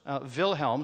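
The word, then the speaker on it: Wilhelm: acrostic so the first Vilhelm starts with a w and so does v although we say it like a V and German WI E and then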